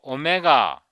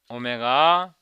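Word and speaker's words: ω: 같습니다 만약에 세타를 각속도 오메가 곱하기 시간 이렇게 나타냈다 그러면요 아을 t 대해서 두 번 미분하면 마 오메가의 제곱이 됩니다 이게 W 아니고 오메가라고 읽으시면 됩니다 여기에다가 R 붙 이게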